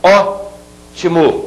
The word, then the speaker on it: ótimo: Preste bem atenção na pronúncia. Ótimo. Eu tenho a última, a penúltima e a antepenúltima. A antepenúltima é a que é a mais forte. Portanto, se trata de uma palavra proparoxítona.